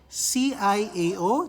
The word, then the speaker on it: ciao: italian the word ciao c-i-a-o that's pronounced ciao ciao when you greet